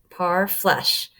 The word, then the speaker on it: parfleche: Parfleche, pronounced parfleche, were made from hides and were often beautifully decorated.